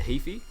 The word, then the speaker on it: Heaphy: went down to nelson and we did the heaphy track the what the heaphy the owl it's spelled h-e-a-p-h-y okay so it's got an interesting